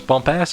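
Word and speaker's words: Bumpass: mr no squidward is roger bumpus bump ass is how you pronounce it uh plankton is yeah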